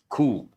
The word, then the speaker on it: coup: We use the word coup. But the letter P is silent. How do you pronounce this? Cool.